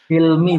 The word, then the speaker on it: Hilmi: Jadi coba tadi saya ulangi, Mas Hilmi, Cilmi apa Hilmi itu bacanya? Hilmi, Bapak. Oh, Hilmi ya, hak ya itu ya.